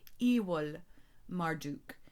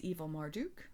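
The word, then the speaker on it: Amel-Marduk: In addition to the meaning of evil changing, the pronunciation of the letter V has also changed. And so a better pronunciation would actually be Ewol Marduk, which meant the son of Marduk.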